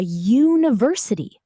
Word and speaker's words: university: A university, u n i v e r s i t y, starts with a u, a vowel, but how do we say it? University. It starts with a y sound, which is a consonant